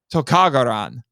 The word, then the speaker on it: Lizardlon: monster's name is said they say lizard lawn but the title on the 2B and Shout Factory listening and if you pay attention this is how the characters actually say it in Japanese it's tokagoran and right so we don't